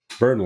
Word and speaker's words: Burnley: podcast this is the match review of burnley burnley that's how you say it burnley burnley burnley